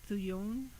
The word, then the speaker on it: thujone: sage um contain uh thujone thuyon depending on how you pronounce it t-h-u-j-o-n-e thujone and